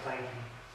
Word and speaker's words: Clanky: I guess he got tired of them misspelling it or something, so he changed it to this, Clanky, the way it sounds, and pronounced it Clanky.